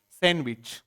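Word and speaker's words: sandwich: पूछ सकते हैं क इसमें एक लीटर साइलेंट है कौन सा डी साइलेंट क्या लिखते इसको सैंडविच क्या बोलेंगे इसको आप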